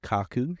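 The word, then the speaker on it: 角: It's going to be pronounced kaku here.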